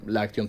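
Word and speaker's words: Aktion: Exactamente, Action, sí. digo, pronuncio así arrastrando un poco porque era con K.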